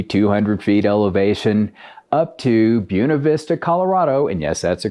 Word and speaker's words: Buena Vista: Texas about maybe 200 feet elevation up to Buena Vista Colorado and yes that's a correct pronunciation which is almost 8 000 feet of